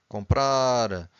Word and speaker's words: comprar: Every time you have a word that ends with an R, you stress the final syllable, okay?